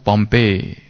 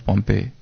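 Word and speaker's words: Pompeii: तो बाबा कहते हैं फॉल ऑफ पॉम्पे। हिंदी में पॉम्पे ही ऐसा आता है, पर इंग्लिश में प्रोनाउंसिएशन पॉम्पे है।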